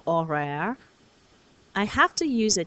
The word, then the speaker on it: horaire: like I get with a silent H in horaire, I have to use a T.